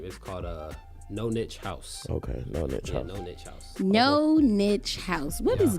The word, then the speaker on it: No Niche House: the name how you how was it man pronounce the brand name you have the brand soda brand name is caught up no niche house no niche house what is known each house